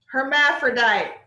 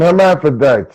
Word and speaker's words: hermaphrodite: Herm, and the PH, you change it for F.